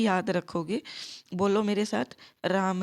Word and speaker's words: रामः: आपको कभी भी गलत उच्चारण नहीं करना है शब्द रूप के अंदर। अगर आप अभी राम है के साथ विसर्ग बोलने में गलती कर रहे हो, आलस्य कर रहे हो,